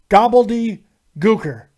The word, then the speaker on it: Gobbledy Gooker: and that was the third thing you can pronounce his name correctly gobbledy er go in peace this Court is adjourned we'll